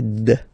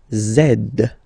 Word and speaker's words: zed: the last one Z zed zed okay so remember to pronounce this D at the end zed zed okay so